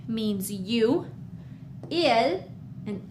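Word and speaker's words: ils: I know that there's an S after ill, but we still just say ill. So, we read it the exact same way. Ill and ill. We don't pronounce the S.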